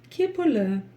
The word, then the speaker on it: кепілі: Ну и здесь буквы повторяются такие же, как и в первом слове. Первая буква Е в первом слоге, ке, и дальше палочка с точкой. Прочитать ее уже несложно. Кстати, снова буква Л, которая читается мягко.